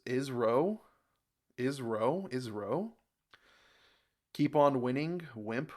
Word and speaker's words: ISRO: I I don't know it's pronounced is SRO o like NASA two syllables ISRO ISRO ISRO keep on